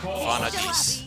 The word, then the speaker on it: Vanadis: Vanadis. That's how you pronounce it.